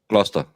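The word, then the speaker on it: Gloucester: Gluster, but it's it's when you read like Valhalla who clearly doesn't understand English.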